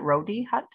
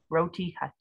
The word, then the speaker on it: Roti Hut: We have is it Rodi Hut? Is that how you say it, Leslin? You're muted. Roti Hut.